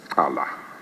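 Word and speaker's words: Cala: And Let's Tala. yes. And That's how it's pronounced. It's the Xhosa, the X.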